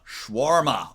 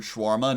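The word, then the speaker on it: shawarma: Schwarma. Oh, schwarma. I can't even spell this Schwarma. Schwarma. Boba. Very Boba. Cynthia. Cynthia. Cynthia. Cynthia. You don't pronounce the A between W and R.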